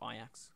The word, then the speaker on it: Ajax: Champions League as well Ajax or Ajax I say Ajax because my accent I guess I don't know um I do think it's pronounced ax but they won the